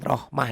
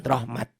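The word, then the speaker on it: رحمة: lupa ini tulis ini ditulisnya dibacanya rohmatan jika dibaca jika dihentikan Rohmah jangan Rahmat Rahmat dan itu halaman 40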